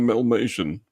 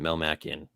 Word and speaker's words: Melmacian: I'm a Melmatian. Oh, sorry. Will we ever get a space eam? That we've gotten that question as well. Eam Spelljammer. They do pronounce it Melmacian, the cartoon theme song.